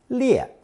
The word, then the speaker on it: 裂: Now let's review a character from lesson 66, pronounced fourth tone, 裂.